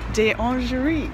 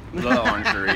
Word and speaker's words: L'Orangerie: So we just finished at the Museum des Orangeries. Ooh, I did a good job that time. Said it wrong. Oh. L'Orangerie. It's not de. Oh. It's d'Orsay and L'Orangerie.